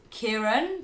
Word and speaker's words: Ciaran: next Irish name that we've come across is Kieran, but spelled like this. Kieran. Kieran. C-I-R-A-N. Kieran can be spelled like this, or even... like this. All very different spellings, but it's all Kieran. All Kierans.